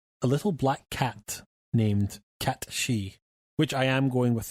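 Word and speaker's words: Cait Sith: seventh party member a little black cat named cat shei which I am going with the true G pronunciation rather than Kate Seth yeah like it's spelled kateth c a i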